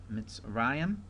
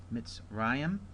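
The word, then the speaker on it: מִצְרַיִם: Now we have Mitzrayim. There's a diphthong as well. Mitzrayim, Egypt.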